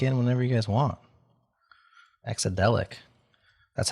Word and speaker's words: Exadelic: Exadelic. That's how you pronounce it, Adam.